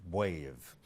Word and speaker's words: B'Wave: back to the name why is the trick pronounced wave the answer is because it is a contraction of the word brain wave now the trick that